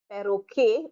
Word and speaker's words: perroquet: Perroquet, perroquet, perroquet, perroquet, a parrot. So you have peintre, 2 syllables, peintre, peintre, and perroquet. Definitely 3 syllables there.